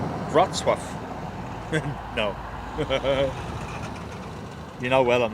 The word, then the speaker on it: Wrocław: Pronounced Wrocław.